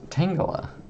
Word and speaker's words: Tangela: It's pronounced Tangela.